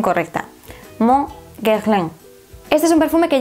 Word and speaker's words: Mon Guerlain: Me cuesta horrores, barbaridades decir esto en francés con la pronunciación correcta. Mon Guerlain.